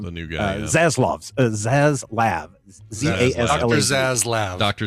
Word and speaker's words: Zaslav: Zaslav.